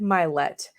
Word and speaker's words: Mylett: today's person is Ed mlet now I've always want to do this guy because his name his last name rhymes with my last name and not many things